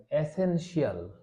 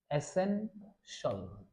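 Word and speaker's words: essential: সেক্ষেত্রে আপনি এই TIAL থাকুক কিংবা CIAL থাকুক, এটাকে আমরা উচ্চারণ করব সল। সল, শিয়াল না, উচ্চারণ হবে কি সল। আমরা কি উচ্চারণ করব? এসেনশল।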